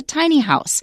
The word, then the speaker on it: tiny house: that's all all right and watch the stress because the first time it appears in writing you're going to say tiny house but the particular kind of house they're talking about here the stress is different it's a tiny house because it is already a thing it's a very specific kind of small house okay okay however this